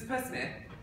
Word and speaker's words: Psmith: Is this Psmith? Oh, the P is silent.